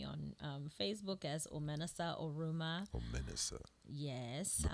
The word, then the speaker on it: Omenesa: Omenesa. Yes. Been pronouncing They it wrong can all find night.